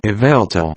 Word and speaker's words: Yveltal: Yveltal.